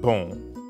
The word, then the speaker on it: bon: Like the on in bon. Exactly. Bon in bonjour is spelled B-O-N. But you don't pronounce that O-N the way you would in English. In fact, the N isn't really pronounced at all.